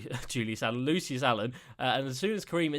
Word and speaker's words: Lucius Allen: Lucius Allen is his name. It's not Julius Allen.